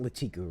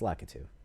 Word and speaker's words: Lakitu: Lakitu, or it's not Latiku, right? It's Lakitu.